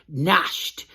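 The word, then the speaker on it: gnashed: It's G-N-A-S-H-E-D, nashed. The G is silent.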